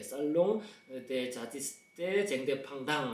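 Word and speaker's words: Salon des Artistes Indépendants: 줄여가지고 살롱 대 쟁대팡당, 불은 연음되니까 살롱 대 자티스테 쟁대팡당 이렇게 되는데요.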